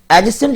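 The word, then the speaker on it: adjacent: एडजेसेंट इसको इसलिए पढ़ते हैं क्योंकि इसमें आपका डी साइलेंट हो जाता है।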